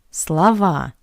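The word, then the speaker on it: слова: But in the plural, we changed the stress. That's why the first O is unstressed and we pronounce it as a Slava Sa.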